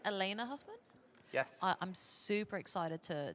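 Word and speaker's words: Alaina Huffman: absolutely I think one person uh is it pronounced Elena Huffman yes I'm super excited to to meet her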